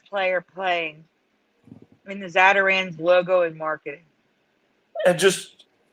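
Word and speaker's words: Zatarain's: playing i mean the zadaran's logo and marketing and just just to be clear is that we say zadarans but but it's it's it's spelled zata z-a-t-a-r-a-i-n-n i-n-apostrophe-s well maybe it's mandela had covered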